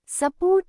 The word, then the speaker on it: support: Instead of saying support with emphasis on both syllables, say spot with emphasis only on port, making the su sound like a light a.